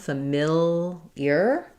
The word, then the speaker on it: familiar: stressed on this I sound, familiar. So it is really an ear, but we just do it more like a y, familiar. So thinking of that as the y sound. So I would rewrite that as familiar.